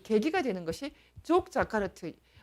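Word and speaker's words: Yogyakarta: 그 계기가 되는 것이 족 자카르트 뭐 자카르트라고도 발음합니다. 족 자카르트 원칙이라는 것입니다.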